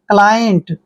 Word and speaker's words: client: क्लाइंट, देखिए क्लाइंट means होता है ग्राहक, क्लाइंट ग्राहक, Shyam is आवर क्लाइंट, Shyam हमारा ग्राहक है, क्लियर।